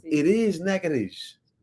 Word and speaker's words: Natchitoches: That is not how you pronounce it. It is Nakadish. It's not Nakadocious.